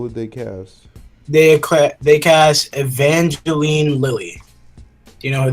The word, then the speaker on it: Evangeline: Evangeline. Yeah. It's like Evan Jellin.